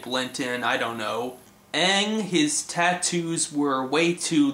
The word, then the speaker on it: Aang: Instead of Aang, we have Aang.